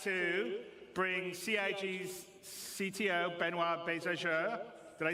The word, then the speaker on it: Benoit Beauséjour: And without me waffling on, I'd like to bring CIG's CTO, Benoit Bézageur.